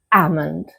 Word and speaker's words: almond: You do not pronounce the L, so you will just say almond.